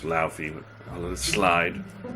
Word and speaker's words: Laufey: It's pronounced Laufey, but I'll let it slide.